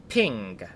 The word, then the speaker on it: PNG: mark section 12.44 pronunciation png is pronounced ping two data representation this